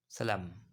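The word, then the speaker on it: psalm: Next है आपका ए sacred song और हिम, यानी पवित्र गीत या भजन, दैट इज सलाम। पी साइलेंट होगा, दैट इज सलाम।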